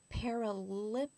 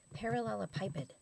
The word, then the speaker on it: parallelepiped: So I went to look up paralipiped, which it was found in our definition of crystal. Okay. Parallelepiped is how you pronounce it.